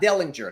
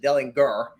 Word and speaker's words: Dellinger: florida international left guard garrett dellinger not dellinger not the famous writer he pronounces it delinger and then right guard